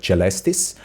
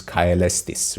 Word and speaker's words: caelestis: So how I pronounce like celestis, they would pronounce this caelestis, right? So AE would not be merged into E, how to pronounce, but